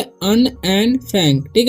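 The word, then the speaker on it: Anne: So students, इसे हम पढ़ेंगे अन। ए से क्या होता है? ए से होता है अ, ओके। और एन से क्या होता है? न। और फिर एन से बड़ी न हो जाएगा, मतलब फुल न हो जाएगा, पूरा न, ठीक है। तो अन एंड ए एन जब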